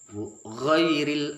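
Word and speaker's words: غير: Ghairil gha, gi dengan ha, gha yang ada tekanannya, gha bukan kho tapi gha, gh, gha, gha, ghairil, ghairil, alif lam qamariyah, lamnya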